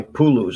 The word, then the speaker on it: Puluz: The first thing is a cage, and this is made by Puluz, I think is how you pronounce it, P-U-L-U-Z.